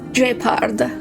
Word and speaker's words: Gard: let's go thank you Gard for the info should be waiting for us in Rivet town right I always call him Gard but it's jard with a soft G here we go again